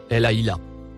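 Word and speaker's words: الأهلة: Le mot en surbrillance vert se prononce Elaïla.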